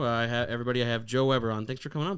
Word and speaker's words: Joe Weber: seven years now i have everybody i have joe weber on thanks for coming on bud thanks for